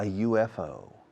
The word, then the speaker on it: UFO: I've never seen a UFO, un ovni. I've never seen a UFO. Piensa por la letra U, que es vocal, sin embargo es sonido Y, por eso digo a y no an.